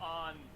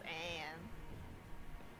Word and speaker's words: Ann: Is it supposed to be On? I thought the whole point was that she was half, so it's Anne. Nah, it's always pronounced On.